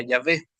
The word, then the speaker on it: Yahvé: Ahí tenemos las 4 letras que si le añadimos las vocales se pronuncia Yahvé, pero sin las vocales es difícil pronunciarlo.